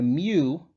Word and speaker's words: mu: s sigma in the greek alphabet and the mu that's what it's pronounced like it looks like an m and